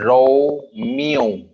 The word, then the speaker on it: Romeo: Ro is different. No is different. Okay. R as in R as Romeo. Romeo. R as in Romeo. R as in Romeo. Okay. ये हमारा noun है तो रो पे ज्यादा stress करेंगे.